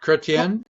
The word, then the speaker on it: Chretien: Is that how you pronounce it? Yeah, Chretien yeah, that's good.